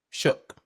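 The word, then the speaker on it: Shough: Tyler Tyler, how do you I always I realize I've been saying his name wrong. Shook.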